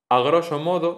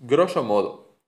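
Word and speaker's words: grosso modo: Otros casos de prótesis ocurre con algunas expresiones del latín a groso modo, no se dice así. La a esa no hay que decirla, es groso modo.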